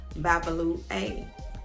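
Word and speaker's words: Babalú-Ayé: represented by the arisha babalu a if i have not pronounced it correctly you can look it up it's b a b a l u hyphen a y e and this god um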